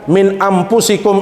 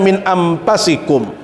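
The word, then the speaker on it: مِنْ أَنْفُسِكُمْ: qura itu memberikan bacaan min anfusikum itu dalam dua bacaan ada yang membacanya Min anfusikum yang kedua ada yang membacanya Min anfasikum fusikum artinya apa dari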